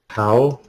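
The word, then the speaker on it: Haw: How's it how or now?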